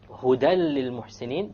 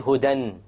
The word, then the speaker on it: هُدًى لِلْمُحْسِنِينَ: Again, you don't say hudan. If you said hudan, then that would be incorrect.